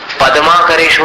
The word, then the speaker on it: पद्माकरेषु: इसको भूल करके भी पद्माकरेषु मत बोलना, पद्माकरेषु, पद द आधा है, उच्चारण में ध्यान देना।